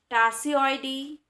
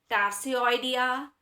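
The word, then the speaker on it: Tarsioidea: लेम्यूराइडी, टार्सियोइडी एंड एंथ्रोपॉइडी। ठीक है, कुछ लोग इसको प्रोनाउंसिएट करते हैं लेम्यूराइडिया, टार्सियोइडिया एंड एंथ्रोपॉइडिया।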